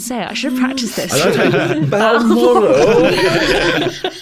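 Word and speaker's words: Balmoral: should have practiced this B moral that is how you have to pronounce it when you're announc moral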